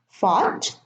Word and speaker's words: fought: Fought, sought, and thought.